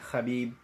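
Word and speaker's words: Khabib: Eagle did his thing Habib that's actually how you even say his name he did a fantastic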